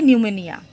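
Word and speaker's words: pneumonia: Number three, bacteria এটা হবে নিউমোনিয়া। এখানে যে নিউমোনিয়ার আগে যে পি আছে, এটা কিন্তু উচ্চারণের সময় অফ থাকে, সাইলেন্ট লেটার, এটা নিউমোনিয়া।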